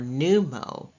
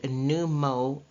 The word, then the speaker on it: pneumo: pneumonia excuse me are pneumo the P obviously is silent and it is new MO and pneumo and pulmono both mean